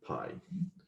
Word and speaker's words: Pai: This is by Mixon, Parshall, and Pai. I believe you actually pronounce this P, but I like Pi better for some reason.